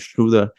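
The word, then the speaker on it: Schröder: got a couple of point guards and Dennis Schuler and yes that's how you pronounce his last name I did see his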